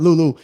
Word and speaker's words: Lue: Yeah, Lou. I said it right. Lou.